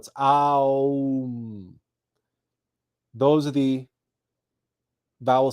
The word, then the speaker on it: AUM: next we have AUM now the o is implicit right we don't have to spell it out because I'll you can't say um without automatically saying oh so it's um those are the vowel